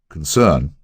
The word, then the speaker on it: concern: favorite nouns in verbs the key word concern with the accent on the first syllable so help me I